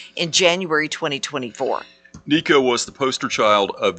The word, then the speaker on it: Nico: Nico.